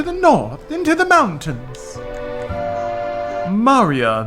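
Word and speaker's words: Maria: north into the mountains Marya the Maurya that's how they say it here Marya the opera singer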